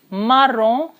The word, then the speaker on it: marron: Okay, now the second color here is maroon, okay, which is in French it is marron, on, the pronunciation is on, so it is marron, and feminine also is same, marron.